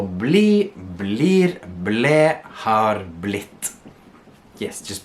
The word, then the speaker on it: blir: Remember to hit that R, blir, right?